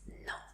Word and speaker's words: non: Pues ni tanto, porque se escribe de esta manera, pero no vamos a pronunciar esa N final, entonces simplemente es no.